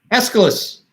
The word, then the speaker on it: Aeschylus: Aeschylus. I hope I'm saying it right. But Aeschylus. that's how the teacher I learned about Aeschylus from said it.